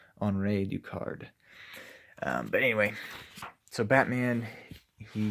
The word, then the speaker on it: Henri Ducard: so it's Henri Ducard although he's French so I think it'd be pronounced on raid you card but anyway so Batman